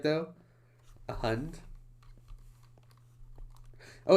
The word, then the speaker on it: hund: A hund? Oh, it sounds kind of like hound. I can see that now. Like hound, hund.